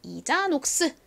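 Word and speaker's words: Isa Knox: 그다음이 브랜드명 읽어 보세요 앞부분은 아이가이 소리 나고는 지소리 a 아 이자가 됐고요 KN 이렇게 연달 면가 어떻게 된다고요 묵음이 됩니다 그래서 니은 소리에가 에오 x n 몸 뒤에 쓰이면 기억 받침에 소리 나죠 그래서 이자녹스입니다 이자녹스는 영어가 아니라 프랑스랑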